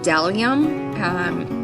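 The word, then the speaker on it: Bdellium: special effects brushes it's deliam so if you're looking that up it actually is b d e l l i u m so it's pronounced dellium but there's a b in front of it um not to throw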